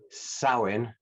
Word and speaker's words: Samhain: And I did my research on this, so I'm hoping not to offend anyone here, but the title is Samhain in Salem.